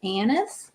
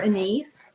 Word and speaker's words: anise: Um, if you have annis or anise, however you want to pronounce that, a n i s e, I've heard it several different ways.